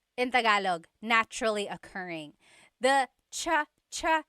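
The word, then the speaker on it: tsaa: Polyglot said it's like the word cha. Cha in Tagalog is t like the tea that you drink and it's spelled ts aa aa. Cha. Cha. That's such a Tagalog spelling. I love it. There's the ts sound and then the double vowel uh pronunciation.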